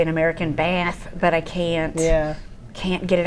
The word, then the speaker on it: Bath: But a funny thing about that is that we perceive Bath as being the British pronunciation, but that's really only used in the south of England, and Bath is in the south of England, so that's why that's relevant.